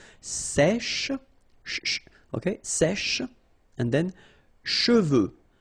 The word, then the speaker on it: cheveux: Usually this one is a bit of a problem because some of the students normally pronounce it chevaux, okay? So try to keep in mind that you get E-U here.